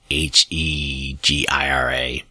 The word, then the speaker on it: Hijra: The Hijra, I believe is how it's pronounced. Hegira.